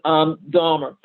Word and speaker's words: Dahmer: Dahmer, his name is correctly pronounced Dahmer, Vernon Dahmer, offered his grocery store as a place for voter registration.